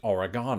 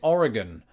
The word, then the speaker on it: Oregon: I always pronounce it Oregon oh wait no that's an entirely different video I always pronounce it Oregon Oregon R again I'm just repeating it until you convinced now